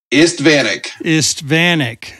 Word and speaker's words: Istvanik: Okay, guys, today I'm here with Istvanik. Did I say that right? Pretty close. Istvanik. And I heard some guys pronounce it.